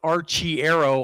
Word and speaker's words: Arciero: And he does go by Arciero, but I have talked to both Butch and Ryan, and it is Archiero, also.